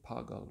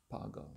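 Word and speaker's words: पागल: Nanda described as pagle is it a long a pagle right pagle yeah a mad person a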